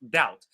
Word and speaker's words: doubt: Uh there are a lot of words in English where they have a B but the B is silent. One of them is doubt. For example, doubt.